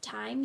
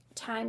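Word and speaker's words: Thyme: shop is never enough time jaan etsy com and um time is spelled with a th y so please check them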